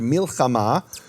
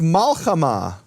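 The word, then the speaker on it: מלחמה: Another example they bring is the word milchama, which is war. And in Babylonian Hebrew, it's malchama. Also means war, no difference in meaning, but it's pronounced differently and given a different vowel.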